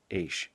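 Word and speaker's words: Eash: Their last name was a name with just 4 letters, E-A-S-H, and it was pronounced Aish.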